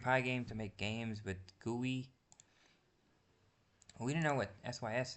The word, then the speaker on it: GUI: graphical user interface or GUI pronounced guey guey All right.